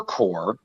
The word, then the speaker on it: Corps: Is it Corps or Corpse? Corps. It's Corps. Corps.